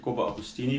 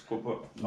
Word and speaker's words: Coppa Agostoni: I said Coppa Agostini, but it's Coppa Agostoni.